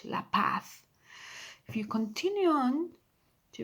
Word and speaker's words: La Paz: La Paz, the letter Z there, you read that as well, yes, at the end of the word. It's like a TH, La Paz.